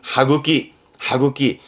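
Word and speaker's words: 歯茎: 발음은 하구기.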